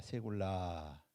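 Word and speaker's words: סגולה: 세굴라. 자, 이 세굴라라고 하는 단어는 세굴라라고 읽죠. 세굴라.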